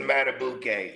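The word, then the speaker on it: Madubuike: You know, I rock with Justin Matabuk.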